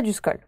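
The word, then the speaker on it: Eduscol: asthme est sûre et du skol pardon et du skol de match peut taper en fait comme ça se prononce selon ed usc ol voilà meriem te la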